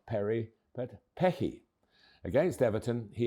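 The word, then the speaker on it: Perri: The new leads United goalkeeper whose second name is spelled P ER I Perry. Easy, you would think, but think again. The Rs in certain parts of Brazil are said as H's.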